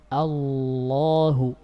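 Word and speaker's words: الله: Perhatikan, Allahu, bibirnya enggak gerak. Kenapa? Karena lam di situ lafzul jalalah dalam keadaan fathah dan hukumnya ditafkhim.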